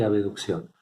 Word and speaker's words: abducción: Acá no está la letra E, pero para pronunciarlo diferente se pronuncia aducción y abducción.